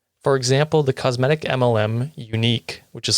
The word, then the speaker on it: Younique: For example, the cosmetic MLM Unique, which is spelled in the dumbest way.